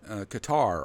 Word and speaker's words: Qatar: I made in was in Qatar or Cutter however you want to pronounce it and uh in the